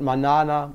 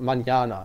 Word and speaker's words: mañana: know like if it's the word is not manana, but manana.